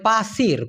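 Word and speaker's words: pasir: Malaysian ভাষায় বলা হয় পাসির পা সির উচ্চারণটা কি হবে প আকার ছয় রশ্মি র কিন্তু ধুলা যেটা থাকে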